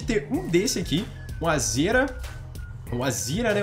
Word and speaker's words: Azera: Um Azira, né? Eu falo Azira. Azira eu acho que fica meio feio, mas eu acho que o jeito certo de falar é um Azira ou um Audi A5, galera.